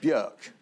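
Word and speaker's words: Björk: cat Robert peston and BK BK yeah well I worked with Burk and she told me that's how you pronounced my name really yeah and I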